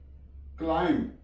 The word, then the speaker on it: climb: CLIMB, क्लाइम, B silent है।